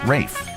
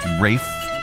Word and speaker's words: Ralph: He said, I think it's the case that the spelling uh, R A L P H used to be pronounced Rafe.